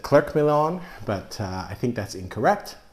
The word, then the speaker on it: Clerc Milon: Again, it's Clerc. The C is silent. It's Clerc Milon. I've always said Clerc Milon, but I think that's incorrect.